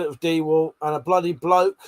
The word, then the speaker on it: DeWalt: Dewalt is literally the only word that has to be said Dewalt. I've looked it up multiple places. I said it was Dewalt. The internet said it was Dewalt and a bloody bloke